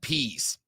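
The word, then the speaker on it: Pees: lonzo this is atlanta falcons defensive coordinator dean peace p-e-e-s yes that's how his name is spelled and pronounced we should go piez and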